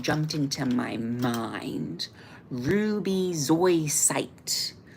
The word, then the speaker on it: zoisite: Ruby zoisite. Ruby zoisite. It's a Z.